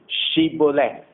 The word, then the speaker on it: Shibboleth: If he says no, then they would say to him, then say, Shibboleth.